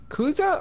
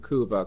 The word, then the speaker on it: Kuza: Kuza or Kuva? Kuza. Oh, okay. I thought you were just mispronouncing Kuva, because I think there is There's a skin